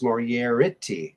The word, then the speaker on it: Moriarity: That Moriarty is Moriarty. Oh. Mine is Moriarity. So I have two Oh, eyes, whereas Professor Moriarty only has one eye.